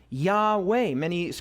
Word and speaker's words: Yahweh: Yahweh. Most scholars believe that that's probably the best pronunciation of the name of God.